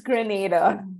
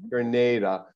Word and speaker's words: Grenada: she flew up from Granada or Grenada or how do you say it Therese it's Grenada Grenada her and Nick her